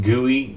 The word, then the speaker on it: GUI: So graphical user and by you know it's pronounced guey gui guey.